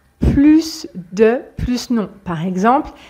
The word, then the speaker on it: plus: avec le contexte donc on va prononcer le S quand c'est positif spécifiquement avec ces deux cas plus de plus non par